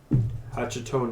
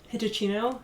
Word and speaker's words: Hitachino: Yes, I don't think the T is pronounced. Sing Tao? And then, I think I've seen this one before. Hachito Nest? Yeah, Hitachino.